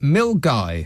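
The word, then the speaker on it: Milngavie: to go and investigate yourself SC um um mil guy is that how you pronounce it an that's quite correct yes but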